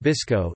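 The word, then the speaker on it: BSCCO: calcium copper oxide or BSC Co pronounced visco is a family of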